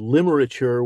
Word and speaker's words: Limerature: Among the things that you've been busy doing is this wonderful, wonderful new book called Limerature 101. Did I pronounce that correctly?